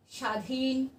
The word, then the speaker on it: স্বাধীন: তখন বলতে পারবো যে যদি শব্দের প্রথমে ব ফোলা থাকে তাহলে সেটা উচ্চারণ হয় না, এটা উচ্চারণের নিয়মে আছে।